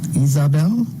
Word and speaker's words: Ysabel: I'm going to give the Spanish, or try to give the Spanish pronunciation. Ysabel? Ysabel.